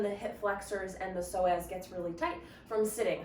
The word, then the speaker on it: psoas: One of your hip flexors is your psoas. You maybe have heard of the psoas before. If you've ever seen it written, it has a silent P in front of it.